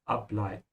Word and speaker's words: ableiten: And ableiten is a separable verb. So emphasize the prefix ab, ableiten.